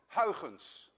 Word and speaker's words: Huygens: of christian huygens actually a dutch person would pronounce it as haugens but you don't have the i in your